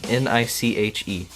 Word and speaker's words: niche: It's spelled N-I-C-H-E.